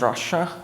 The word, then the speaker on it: Russia: Russia so hello everybody my name is Russia it's pronounced like the country I'm not from Russia